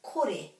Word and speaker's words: kore: say that is kore so it's ko re because in english the e at the end often isn't pronounced but in te reo maori there are no silent letters so everything is always pronounced so the e at the